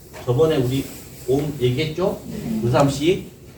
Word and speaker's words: 옴: 이거 들어보니까 산스크리트 하시는 분 얘기를 들어보니까 이 옴은 옴 이렇게 하면 안 된다는 거예요. 우리가 철수야, 영희야 할 때 마지막 뭘 부를 때 올리잖아요. 그 음으로 해야 된다는 거야. 옴 원래 발음은 철수야, 철수 옴 이런 식으로 원래 발음은 이제 그런 식으로 이제 돼야 된다는 거죠.